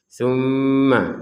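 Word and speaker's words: ثُمَّ: Tumma. Jadi dengungannya itu dua harakat. Jadi jangan kurang dari itu sehingga kita mengucapkannya tumma tummah ini kurang.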